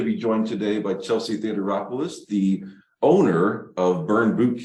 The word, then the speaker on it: Theodoropoulos: are excited to be joined today by Chelsea Theater rolis the owner of burn boot camp St Louis